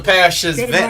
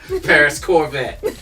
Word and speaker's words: Paris Corvette: Now say it right. Thank you. I said it right. Paris, I didn't mess that up. Yes, he did, Paris, I did not. Paris Corvette. Paris. It's like a stingray.